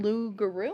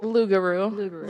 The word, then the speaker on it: loup-garou: thank you that's crazy no how do you pronounce it again loup-garou loup-garou so loup-garou yeah it's of loup-garou because you how much